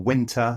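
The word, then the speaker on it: Wynter: So you can use tools like Pollfish or Winter, spelled with a Y, W-Y-N-T-E-R.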